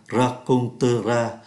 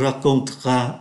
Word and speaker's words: raconteras: Thay vì phát âm là raconteras, người ta phát âm nhanh. Tu me raconteras après.